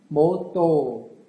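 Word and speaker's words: ម៉ូតូ: 코 쉬운 발음은 아닙니다 캄보디아에서 발음하는 오토바이는 모또 이렇게 발음해야 되겠네요 그 새 오토바이는 비싸요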